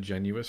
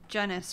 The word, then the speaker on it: Genuis: correct my pronunciation because I've said genuis for so long yeah we've heard it both ways so I guess in our brains it's kind of confusing some sometimes but it is genis from what we understand